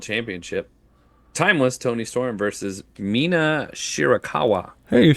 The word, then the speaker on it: Mina Shirakawa: Timeless Tony Storm versus Mina Shirakawa.